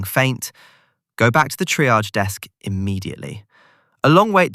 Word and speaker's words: triage: Today's word, triage. It comes from French, so the pronunciation is unusual. Triage. The second syllable sounds like the S in measure.